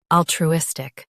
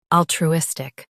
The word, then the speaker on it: altruistic: US ends with stick. UK ends with stuck.